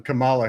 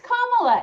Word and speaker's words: Kamala: It's one of those words that sounds like something Camala Harris would explain. I'm sorry. Kamala bandwidth. No, it's Kamala. It It rhymes with Mama.